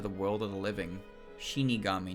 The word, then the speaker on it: Shinigami: Shinigami, not Shikigami. Streamer. Say it right.